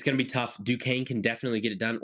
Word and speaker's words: Duquesne: Now, some of you might think you pronounce that Duquesne. No, it's Duquesne, and they're not going to win.